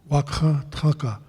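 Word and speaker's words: Wakȟáŋ Tȟáŋka: Wakha Tanka encompassing everything in creation. So, proper pronunciation, that guttural dot is a must.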